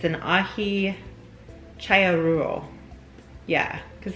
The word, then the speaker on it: Aji Challuaruro: the name it's an ahi chaya rule yeah because the double l's would be pronounced like a y um so again the